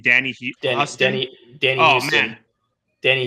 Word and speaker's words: Huston: The actor's name Danny Huston. Danny Oh Houston. man, Danny Houston. is it Houston or Huston? Because it's spelled Huston. I think he pronounced it Houston, Okay, like John Houston.